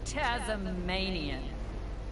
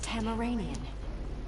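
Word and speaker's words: Tamaranean: So you're Tasmanian. It is pronounced Tamaranian.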